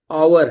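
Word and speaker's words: hour: यह आवर है। भले ही किसी कसोनेंट से शुरू है लेकिन इसका उच्चारण शब्द आवर है।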